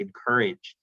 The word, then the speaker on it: Inkerij: founding principal of i-n-k-e-r-i-j it's pronounced in courage which is an advisory